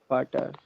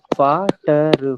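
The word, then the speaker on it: Vater: young ठीक है इसके बाद में ये क्या लिखा है फादर फादर नहीं पार्टर ता नहीं लगाना है इसमें ये ये टी है ना यहां पे ये ट का साउंड देगा ता का साउंड नहीं देगा ठीक है ना और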